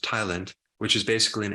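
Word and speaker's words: ptyalin: there's this enzyme called Thailand which the p is silent but it's pronounced Thailand which is is basically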